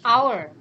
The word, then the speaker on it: our: ลูก นะ คะ Miss Our คำ นี้ อ่าน ว่า เอา แปล ว่า ของ เรา